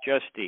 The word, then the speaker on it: Giusti: Giusti. Is that how you say it? Yeah, Dave Giusti.